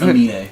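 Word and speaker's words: Aminé: I can just pronounce like anime, but like the Emin switch. Amine? Emine. No, but it's Amine.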